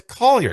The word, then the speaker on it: Collier: It's Collier.